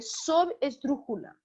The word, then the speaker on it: subesdrújula: E, claro, a sílaba tônica, ela vai recair numa posição anterior à antepenúltima. Então, é como se fosse a quarta posição, digamos assim. E ela vai ser chamada de subesdrújula, tá?